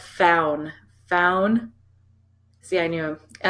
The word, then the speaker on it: Faun: It's pronounced faun. Faun. See, I knew him. And us Canadians, we just look at it, so it's fawn.